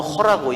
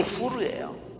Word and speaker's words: 후르: 거기에 나온 사람이, 한 사람은 여호수아고요, 한 사람은 우리가 후르라고, 영어로는 허라고 읽지만 이게 후르예요.